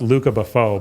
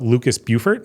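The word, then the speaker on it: Lucas Beaufort: artist is if it's he's French so it's pronounced Luca Buffo but it looks like Lucas Bufort so Lucas under Bufort is my favorite artist.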